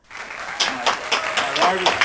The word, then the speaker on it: Mylira: So I want everyone to give it up for Mylira.